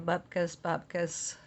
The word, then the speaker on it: bupkis: Bupkis rhymes with mopkiss or bubkiss. To rhyme with put this, bopkiss.